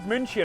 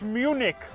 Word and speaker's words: München: It is called München, but I have heard people call it Munich.